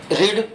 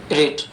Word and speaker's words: read: में सेम रहती है, लेकिन बोलने का तरीका थोड़ा सा चेंज हो जाता है। यानी कि इसको रीड, रेड, रेड, पढ़ा इस तरह से जाता है। जब सेकंड फॉर्म के रूप में बोलेंगे तो इसका रीड नहीं निकलेगा, रेड निकलेगा।